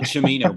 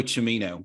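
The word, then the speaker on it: Cimino: agreement on this and he pronounces it chimino by the way so it's Aldo chimino chimino very Italian for three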